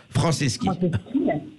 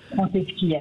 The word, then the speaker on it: Franceschi: Je souhaitais poser une question à monsieur Patrice, je ne sais pas comment on prononce votre nom. Franceschi. Franceschi.